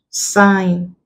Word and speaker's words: sign: Nash where it's like sign design resign reign the sweats also contains the n Sound because the g is silent we do not pronounce it so we are only